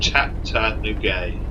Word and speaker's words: Chattanooga: It's pronounced Chattanooga.